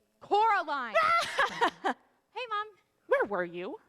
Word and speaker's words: Coraline: They call you Coraline instead of Carolina. Not Caroline at all. Dasvidanya, Caroline. It's Coraline.